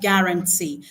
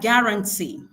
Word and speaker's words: guarantee: So in a word like guarantee, guarantee. Okay. The stress falls on the syllable that has the e.